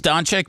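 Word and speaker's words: Dončić: is of was it how do you say the guy's last name Luca don don is it donic it's donic but I mean he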